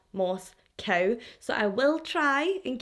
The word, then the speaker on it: Moscow: here here in Scotland we pronounce the word Moscow as Moscow I know the residents of Moscow Idaho see it as Moss cow so I will try